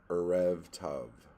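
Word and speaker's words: ערב טוב: You pronounced it correctly the first time. Erev Tav. Wow. I probably did it worse each subsequent time. Um, Tav means good. So Erev means evening.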